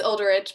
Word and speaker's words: Ulderich: Do you pronounce your name Olderich or Olderich? It's Ulderich, but I think that's just like the American way of pronouncing it.